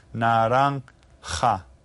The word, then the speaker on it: naranja: The J is pronounced like an H again. Naranja.